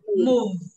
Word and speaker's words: move: Tiếp theo, không mím môi đọc là mu, mu, đúng không? Bây giờ mím môi này, move, move.